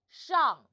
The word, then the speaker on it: 上: 我们一起读上 So the initial is 诗 Rob your tongue 诗 and the final is on.